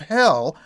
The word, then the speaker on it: Hel: Baltic coastal town of Hel via the highway to Hel. And by the way, the town of Hel is spelled with just one L, but it's pronounced the same way.